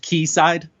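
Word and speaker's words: Quayside: news I think that's the word uh it's pronounced key side yes okay that shows I guess I'm I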